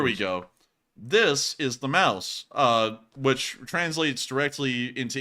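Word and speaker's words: Maus: go this is the mouse uh which translates directly into English as the mouse you know it's spelled m-a-u-s in German but it's spelled as the mouse like the field mouse in English which is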